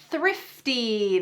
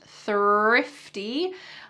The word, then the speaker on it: thrifty: The third phrase to boost your English fluency is thrifty. This is also a good one to practice your TH pronunciation, THR pronunciation, in fact, thrifty.